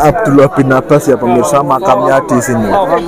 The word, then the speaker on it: Abdullah bin Abbas: Abdullah bin Al Abbas. Abdullah. Ya, begitulah pokoknya ya. Bahasa Arab saya masih minim. Oke, ya. Ya. Ya. Ya. Kita lanjutkan perjalanan kita pemirsa ya. Bacanya Abdullah bin Abbas ya pemirsa.